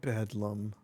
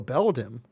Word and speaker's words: Beldum: Seven months no one else has been taken by Bedum. No, Beldum. Huh? I've been reading that wrong the entire time. I thought it was Bedum.